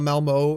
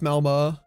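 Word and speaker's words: Malmö: Is that how you say it? Not Malmo, it's Malmo. Okay, yeah, it has the little dots.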